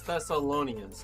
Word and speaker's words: Thessalonians: letter we called first Thessalonians la la Thessalonians Thessalonians yes that's how you say it why am